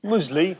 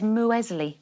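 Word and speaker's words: muesli: musley what meron mle no it's muley musley musley you're the only one saying it I've got a friend in the audience who says MO Wesley well I used to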